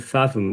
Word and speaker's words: fathom: Is it fathom? Yeah. Um, so yeah, fathom. Fathom. Fathom. Um, yeah, you're putting an F in the middle. So, I'm saying fathom. I'm saying fathomable.